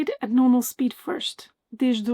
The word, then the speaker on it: desde: Desde, hoje, de, manhã. Both desde and hoje have E's at the end, which in Portuguese will not be pronounced. These are mute E's.